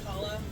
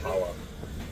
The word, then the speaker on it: challah: like challah. You can say challah. Okay. You're like, That's pretty impressive. I mean, that's not an easy bread to make. Challah's pretty easy if you have a stick.